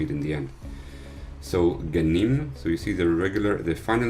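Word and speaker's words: גנים: Ganim.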